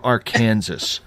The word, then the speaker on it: Arkansas: Because I don't understand how you don't pronounce the S in Arkansas at the end. He's from Arkansas.